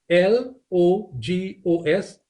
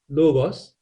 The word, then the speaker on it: logos: few of these words like that one there l o g o s logos and then you see it here again logos and you see it here again logos and